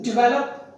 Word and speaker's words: develop: have already discussed it the stress is on the second syllable and it is pronounced as develop not done the seventh